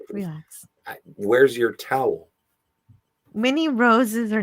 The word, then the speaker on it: rosé: I've had sweet rose wine before and that's pronounced rosé.